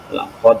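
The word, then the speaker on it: لقد: tertentu misalkan P kata laqod laqod itu e bacaan BAC ya cara membacanya laqod itu ada Qalqalah di situ ya membacanya dengan cara memantul kemudian eh yang kedua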